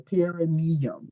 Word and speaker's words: perineum: But I think some men, I think your perineum.